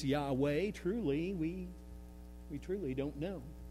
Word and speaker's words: Yahweh: Now, I pronounce that Yahweh, but honestly, we really don't know. Because you see, the Jewish people were so reverent about God that they would never write that with any vowels in the name.